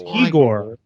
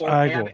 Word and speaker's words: Igor: was igore I was it was eor no it's pronounced igore or or Abby normal